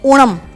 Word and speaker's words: ओणम: त्योहार है ओणम और आईटी इस प्रोनाउंस एस ओणम ये हमारे वलसाड के